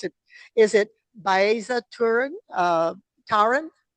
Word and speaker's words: Baeza-Tarin: butcher your name, please tell me how to pronounce it. Is it Baeza Turan Turan?